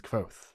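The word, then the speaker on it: Kvothe: All of that comes before he even begins the start by saying, "My name is Koth, you know, pronounced near the same."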